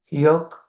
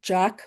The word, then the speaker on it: Joque: I think you pronounced it the Spanish way. So, it's Jock.